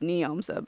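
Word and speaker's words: Njomza: people want to check her out um it's pronounced neomsa but I just felt like I should say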